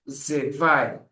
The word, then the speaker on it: zwei: eins, and 2 as zwei. So mostly two is difficult for people, but it's just Z. Like you say why, but change the W to V.